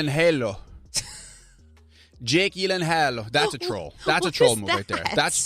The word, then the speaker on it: Gyllenhaal: name is actually pronounced this is the phonetic spelling here Yi Len Halo is that a Beyonce song the only two places that it's pronounced correctly my last name is in Sweden and Ikea that's kind of funny